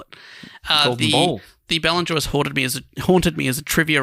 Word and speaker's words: Ballon d'Or: a trivia question writer, instead of writing Ballanjois, as it's because it's spelled Ballon in the answers, I wrote Balloon Jaw, and a few of the trivia hosts ribbed me for that one.